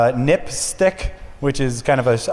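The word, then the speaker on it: NPSTC: Public Safety Telecommunications Commission which is pronounced nip stick which is kind of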